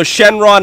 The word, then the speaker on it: Shenron: he said Shen long Shen long is the alternate way to say him that's actually what he's originally called so Shenron is actually a derivative of it so I'm just coming